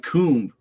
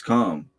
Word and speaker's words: calm: Like, if you put T-O-M-B, it's pronounced tomb. Change a T for a C, it's not coomb, it's calm.